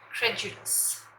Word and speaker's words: credulous: Number 19, willing to believe easily, credulous, यहाँ ड है मगर साउंड ज का आएगा, credulous, credulous।